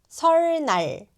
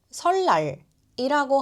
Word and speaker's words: 설날: 리을 뒤에 니은이 와도 리을로 변해요. 설날이 아니라 설날이라고 하면 더 자연스러워요.